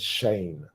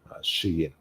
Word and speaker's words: Shein: So I would have said Shane. I think if I just read it by myself, but Shein.